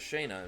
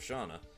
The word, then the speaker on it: Shana: English speakers use Shana and Shayna, with Shayna being closer to how the Japanese pronounce it, being Sena. Fair enough. I'll have to just learn how to pronounce it as Shayna instead of Shana, because I've always pronounced it Shana.